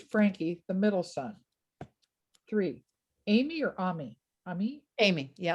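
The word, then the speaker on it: Amie: ami amy yeah well i'm actually sure that the french would say you know uh ame but um everybody calls her amy but it's spelled i.e at the end yes a-m-i-e right a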